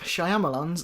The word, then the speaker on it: Shyamalan: Night Shyamalan's The Visit.